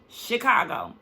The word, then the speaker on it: Chicago: are you saying that you're saying chick like chicken it's Chicago Chicago even in her professional she